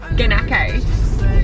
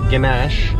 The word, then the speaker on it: ganache: Ganake. It was Ganache. Okay, so this morning what happened was there was a vegan cake. It was called vegan brownie ganache and I thought that it said vegan, what is it?